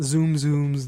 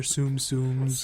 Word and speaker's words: Tsum Tsum: a month they release new sets of not zoom zums they're Tsum tsums tum tsums can I believe we're actually having